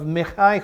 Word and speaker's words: Micah: and came to the house of mikhai who that's the Hebrew pronunciation of the word that you see Micah so Here Comes This